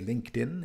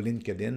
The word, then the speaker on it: LinkedIn: en relation a dit donc la prononciation c'est LinkedIn et non pa line Kin ainsi de suite et